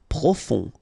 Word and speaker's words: profond: Profond. Final D not pronounced. O-N, on.